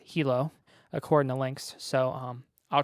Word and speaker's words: Hilo: It's pronounced Hilo. Sometimes I call it Hilo, but it's pronounced Hilo according to Lynx.